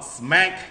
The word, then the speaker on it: SMEG: In particular, we're going to talk about SMEG kitchen appliance. Nat, did I pronounce the brand correctly?